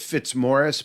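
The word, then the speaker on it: Fitzmaurice: Dr Michael Fitz Maurice I think he pronounces it Fitz Morris but it's spelled f-i-t-z-m-a-u-r-i-c-e like Fitz Maurice all one word he's in Scottsdale Arizona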